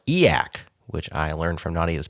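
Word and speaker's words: e/acc: a movement which is abbreviated e slac and pronounced eak which I learned from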